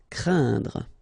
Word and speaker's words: craindre: this combination of letters, so A, I, and then N, okay, so it will be a nasal as well, and then it will be pronounced like un, so keep in mind that it goes in your nose, so you don't hear any N when I pronounce it, and then C plus R will produce the sound craindre.